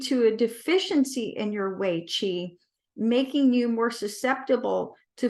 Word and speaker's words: Wei Chi: So it sounds like way to go, but it's Wei Chi.